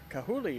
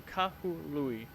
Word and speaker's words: Kahului: of that because I didn't want to be Kahuli or Kalui or so. Kahului is, from what it sounds like, should be a correct pronunciation.